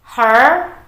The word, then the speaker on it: her: she her her horse perhatikan di kata Her kalau teman-teman membunyikan huruf r atau suara R lidah teman-teman itu harus menempel di langit-langit mulut agar bagus kedengarannya karena memang itu cara menyebutkannya teman-teman jadi Oke seperti